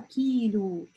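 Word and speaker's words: كيلو: Следующее предложение и слово килю. Килю как килограмм. Килю — килограмм. Легко запомнить.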